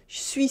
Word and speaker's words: je suis: And finally, that first syllable, je suis, is a bit hard to pronounce. Je suis, suis. So it gets pronounced as suis, suis, suis.